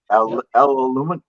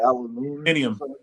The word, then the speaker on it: Aluminium: What about other countries with the bonnet and the windscreen and aluminum? How do you say it? Aluminium.